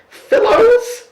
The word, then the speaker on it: Fillows: Fillows rhymes with pillow, which I can see.